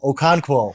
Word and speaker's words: Okonkwo: Am I ever going to pronounce it? Let's just go Chig. It's Okonkwo for the Tennessee Titans.